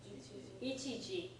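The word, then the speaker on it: 一時: Do you know how to pronounce it? Ichiji.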